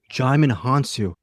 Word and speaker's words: Jaimin Hansu: Jaimin Hansu, not Jamon.